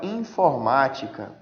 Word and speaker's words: informática: Então vejam, se eu tenho a palavra informática. Informática. Vejam, galera. Proparoxítona. A sílaba mais forte é a antepenúltima. Informática. Ma é a mais forte das três que eu já falei para vocês que podem ser.